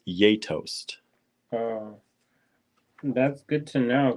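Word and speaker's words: Gjetost: that's from Lithuanian Marianne says it's pronounced yetost uh that's good to know because we just see it at the store we're yay tossed y-a-y-t-o-s-t we call it J house J toast and eat it with slices of Apple what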